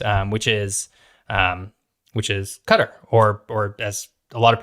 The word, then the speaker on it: Qatar: Which is Qatar, or as a lot of people pronounce it as Qatar.